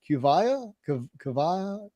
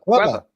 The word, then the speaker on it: Cueva: We got how do you say that? Kuvaya Comics? Cueva. There we go.